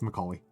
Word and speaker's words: Macaulay: Yeah, did I mispronounce his name? It's Macaulay.